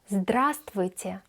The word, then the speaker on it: Здравствуйте: Здравствуйте means hello. Здравствуйте. Здравствуйте. The letter V is not pronounced. We don't say здравствуйте. We write здравствуйте, but we say здравствуйте.